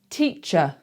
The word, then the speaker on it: teacher: more syllables and it ends in an ER, a lot of the time that's going to be a schwa. So let's try it. You ready? Teacher, teacher.